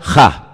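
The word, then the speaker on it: הַ: Se pronuncia Ja.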